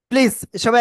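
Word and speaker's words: ص: অক্ষরটা কি অক্ষর আসলে জিহ্বার আগা সামনে নিচে দুই দাতের পেট আগের সাথে লাগাব লাগিয়ে মোটা আওয়াজে আমরা উচ্চারণ করব সবাই একসাথে প্লিজ জোরে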